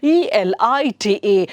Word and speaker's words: elite: Okay, then ELITE. So we are all like used to LIT and ಕೂಡಲೇ light ಅಂತ ಹೇಳಿ we assume, isn't it? But here you see ELITE is pronounced as elite.